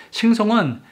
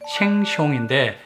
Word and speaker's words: Sheng Siong: 참, 싱송은 싱가포르 마켓인 생숑인데 정확한 발음은 생송에 가깝지만 발음하기 편하게 그냥 이렇게 부르다 보니 입에 붙어버렸네요.